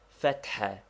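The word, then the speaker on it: فتحة: Fatha, to be pronounced with a roughly aspirated ha, which we have indicated by a dot under it, and which is somewhat like HH or doubly strong H.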